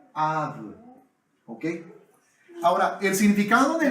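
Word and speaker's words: אב: Y se pronuncia Ab.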